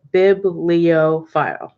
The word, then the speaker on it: bibliophile: that's how i say biblio file like big pheasant baby leo as in lion and file as in like filing so um that way